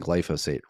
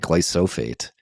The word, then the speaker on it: glyphosate: I I've been pronouncing glyphosate wrong for my entire life. There's some like middle of the word spoonism. I've been calling it glyophate um for for many many years.